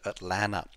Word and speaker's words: Atlanta: told i've got to pronounce atlanta without the second tee so atlanta now you've got some